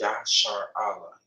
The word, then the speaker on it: Israel: Because the word Israel, loosely translated into the Hebrew, is pronounced YASHARAHLA. Yah meaning he, Shar meaning prince, Allah meaning power.